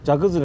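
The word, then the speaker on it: 蛇崩: あ、そうです、ジャクズレの手前。蛇が崩れると書いてジャクズレ。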